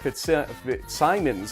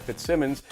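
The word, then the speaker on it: Fitzsimons: 6 minutes later, Wesleyan's Blake Nukem hits a one-yd pass from Matt Fit Simons, I believe, is actually the pronunciation, not Fitz Simmons.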